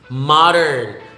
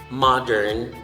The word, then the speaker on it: modern: The same with module. The first syllable of module and the first syllable of modern are the same. Ma, m, and a. Module. Modern. The same thing with model, module, modern, model. not model.